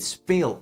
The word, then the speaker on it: spelen: Therefore, we add an extra E to spell, and then we pronounce it speel again.